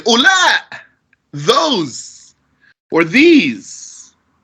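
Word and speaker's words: أولا: or feminine, you say ula, those, or these, without pronouncing that wow there. That wow is silent. It's not ula, it's just ula.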